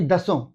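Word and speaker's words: Dassault: इसके लिए रेस में फ्रांस की डसॉल्ट यानी दसों, उसको दसों कहते हैं, वहां की जो फ्रांस की जो वहां का जो उच्चारण है उसमें उसको दसों बोलते हैं, स्पेलिंग होता है डसॉल्ट।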